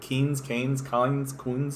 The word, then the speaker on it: Keynes: know anything about him i always mispronounce his name it's a keynes i can never pronounce his name properly i'm the greatest commentator of all mispronouncing important individuals names um kansian kenzian so it's ken's anyway um and uh